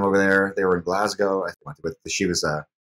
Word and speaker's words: Glasgow: I had to correct her on the pronunciation of Glasgow, because she was saying Glasgow, and she told me